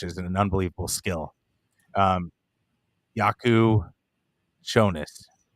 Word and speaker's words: Jakucionis: an unbelievable skill um yaku shonas that's that's understanding it too that the Jay is kind of silent but again i' I've